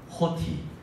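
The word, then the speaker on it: ὅτι: 이 헬라어 세 단어는 OTI처럼 적혔는데요, 발음의 위에 있는 이 표를 하면 O가 호가 됩니다. 그래서 이렇게 읽는 거예요. 저를 한번 따라해 주시기 바랍니다. 호티.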